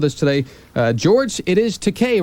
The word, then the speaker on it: Takei: It is Takei, right, George? Takei. Okay, George Takei. Okay. What's that? Rhymes with okay. Okay. George Takei rhymes with okay.